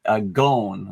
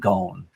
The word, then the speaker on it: Ghosn: Actually, he pronounces it Ghosn, like a long Ghosn, sound, like rhymes with bone or phone.